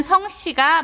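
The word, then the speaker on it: 姓: 가지고 있는 경우에는 우리는 성씨가 먼저 있죠 그래서 성씨 성씨 성 이라고 발음합니다 의미는 성씨 라는 의미이기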